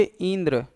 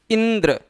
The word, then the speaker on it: इंद्र: इसको अगर बहुत धीरे बोलेंगे इंद्र तो नहीं, इंद्र। इंद्र शब्द का शुद्ध उच्चारण हो पाए, इस शुद्ध उच्चारण के नाते ई पर विशेष बल देना पड़ रहा है।